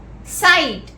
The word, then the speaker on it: sight: Next word, sight, S-I-G-H-T, G is silent.